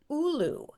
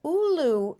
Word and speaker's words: Oulu: We also picked in Finland, the very obscure city of Oulu, it's spelled Oulu, which is about 60 miles south